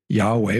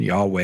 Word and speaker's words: Yahweh: Anyway, um there's some I think it's is it fair to say there's some consensus that the pronunciation Yahweh is probably correct?